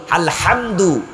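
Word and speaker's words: الحمد: আজকে মুফাসসিরে কোরআন হইছে যেই হাটা আমরা ঠিক কন্ঠনালী শক্ত করে উচ্চারণ করি আলহামদু এটার অর্থ হলো প্রশংসা আর যদি আপনি এখানে হাটাকে শক্ত করে না বলে হায় হাওয়াজ বলেন অর্থ পুরা উল্টে যাবে অর্থ হলো ব্যর্থতা আলহামদুলিল্লাহি রাব্বিল আলামিন সকল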